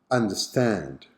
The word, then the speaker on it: understand: Understand. How many syllables? Correct, 3. So, where is the Schwa sound in this word? Perfect, on the second.